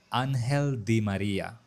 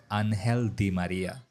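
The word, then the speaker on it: Ángel Di María: ডিম মারিয়াকে বলা হয় আনহেলদি মারিয়া এখানে ডি এর উচ্চারণটা অনেকটা বাংলা দ এর মত আনহেলদি মারিয়া আরেকটা ইন্টারেস্টিং ফ্যাক্ট হচ্ছে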